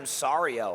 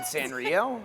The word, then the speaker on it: Sanrio: the characters from Sario. I'm like, you mean Sanrio?